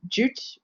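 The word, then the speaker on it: Jude: an actual print of so yut or jute would be the german pronunciation um representing the jewish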